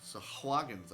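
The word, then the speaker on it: Sahagin: That was just a I mean, it's a free cast of a sweeper that would take out the Sahag Sahaggins actually is how you pronounce that.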